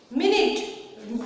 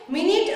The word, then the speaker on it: minute: फिर है 4 नंबर, देखो क्या है, minute rhymes with limit.